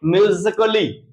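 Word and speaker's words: musically: फिर से समझ लेंगे अगर कहीं ए आता है उसके बाद डबल एल वाई आए तो ये हमेशा साइलेंट होगा यानी नहीं पढ़ा जाएगा तो आइए देख लेते हैं इसको क्या पढ़ेंगे म्यूजिकली इसको म्यूजिकली इसको फिजिकली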